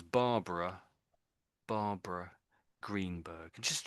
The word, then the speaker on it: Barbara: So we see so it looks like barbar then an extra a on the end but it is normally pronounced as Barbara Barbara Greenberg. Just said it again like that for me. Barbara Kberg is very difficult.